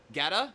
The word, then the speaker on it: Guetta: Guetta. Guetta. Yeah. Like get up and shut up.